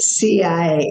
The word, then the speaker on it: Sia: I was the CIA, and I'm thinking in Egyptian, CIA, but they spelled it SIA, but pronounced it CIA.